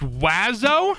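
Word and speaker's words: oiseau: mocked other than french birds is in French no letter is pronounced the way it should and there are seven of them it's pronounced wazo and yes I will die mad about it oazo hits every vowel in the French alphabet and manages to only pronounce with two goddamn syllables got vowels coming out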